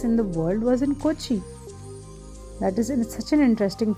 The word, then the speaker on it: Kochi: कोची भी बोलते हैं इसको, कोचिन भी बोलते हैं. कोचिन is the English pronunciation for the word Kochi.